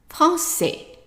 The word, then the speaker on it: français: Now add in AI, that is pronounced as a short A, not A. How would you pronounce all of this? Français. Français. And of course, I underlined the S because the S is silent.